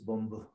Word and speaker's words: bonbu: no, you cannot use bonbu. Reason was it's spelled bomb you. So please don't use that spelling when you're typing, sending email or something. That word is really explosive. So B-O-N-B-U.